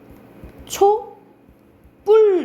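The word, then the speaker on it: 촛불: 초, 뿔 이렇게 나죠. 그쵸? 뒤에 된 소리가 나요.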